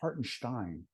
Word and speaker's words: Hartenstein: games and people are like yeah no it's hartenstein oh okay I was pronouncing it wrong the whole time so um Isaiah hartenstein to um Oklahoma City which is a nice